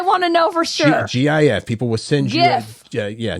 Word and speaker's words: GIF: up Steve will height the guy who invented the GFS says it's GIF but it should be GIF you're right it you even in the word graphic it's the hard G mhm it's not giric no now you're getting all